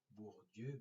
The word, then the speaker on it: Bourdieu: des grands sociologues français bourdieu comme ça se prononce bourdieu bordeaux1 vous dû apparaître